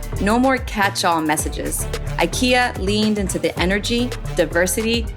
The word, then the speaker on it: IKEA: Spanish isn't going anywhere and neither is IKEA and EPA. They're here to stay. Oh, and just so we're clear, in Spanish, just like in Swedish, it's pronounced IKEA, not IKEA.